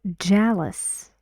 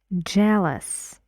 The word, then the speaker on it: jealous: one word you are jealous jealous how many syllables two jealous jealous and how many s hounds just one here jealous help help one